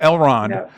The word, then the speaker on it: Elrond: Excuse me, even I'm pronouncing it Elrond. It's L. Ron Hubbard. No, Elrond.